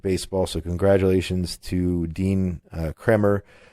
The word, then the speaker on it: Kremer: Dean Kremer, I believe it's pronounced Kremer, I'm not sure, is it Kramer or Kremer?